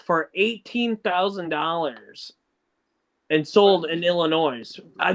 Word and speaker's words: Illinois: You ought to know it's Illinois. The S is silent.